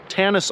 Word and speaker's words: Tannus: to get into a company such as maybe Tannus Armor, they call it. It's spelled T-A-N-N-U-S, Armor.